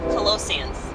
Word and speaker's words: Colossians: Colossians? I think that you know. If you're a Bible person, you know. It starts with colossal, okay? Colossians.